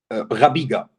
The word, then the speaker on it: Rabiega: Is that pronounced rightly, Rabiega? Rabiega. Rabiega. Yeah.